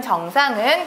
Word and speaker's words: 정상: 땐 길게 발음해야 돼요 정상이라는 것이 무언가의 최고 위치라는 뜻을 가졌을 때는 짧게 바음 하셔야 되고요 이상하진 않다 예 제대로 이다라는 뜻을 가진 정상은 길게 바음 하셔야 됩니다 감상이 뜻이 굉장히 많죠